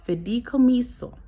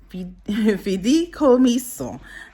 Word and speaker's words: fideicomiso: And that bank trust is called, I'm going to try and pronounce it correctly, it's called fideicomiso.